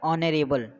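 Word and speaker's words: honorable: में क्या लिखा है, एच हमारा साइलेंट होता है तो इसे क्या पढ़ते हैं हम, ऑनरेबल, ठीक है।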